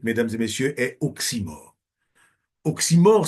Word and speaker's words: oxymore: et messieurs est oxyor oxymore ça s'écrit o XY M r oximor est un nom